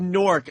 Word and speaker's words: Newark: If you said Newark, I wouldn't know where the fuck I'd be like, what are you talking about? You have to sort of get the W in there. The W is silent.